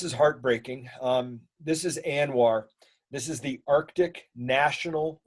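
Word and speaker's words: ANWR: heartbreaking um this is anwar this is the arctic national wildlife refuge you guys know how much i love my my acronyms so a n w r it's pronounced anwar this is in alaska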